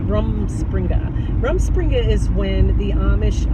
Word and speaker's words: Rumspringa: Rumspringa.